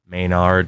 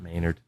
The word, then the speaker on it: Maynard: type he's he's all right mayard not Maynard sir have you ever been